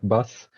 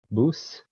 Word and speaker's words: BUS: the company so uh don't get the pronunciation wrong so this is actually actually called boost not bus so uh this is